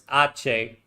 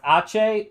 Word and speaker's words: Aceh: So because we're an unrecognized power as Aceh, so I looked up pronunciation. The website says, the internet says it's pronounced Aceh, so that's what I'm saying until somebody in chat tells me otherwise.